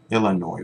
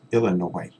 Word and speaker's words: Illinois: last one is Illinois Illinois we don't pronounce the S Illinois okay read the questions